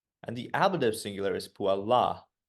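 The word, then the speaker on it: puellā: The little dash over the A in the ablative singular indicates that it should be emphasized just a little bit more when you pronounce. So the nominative singular is puella, and the ablative singular is puella.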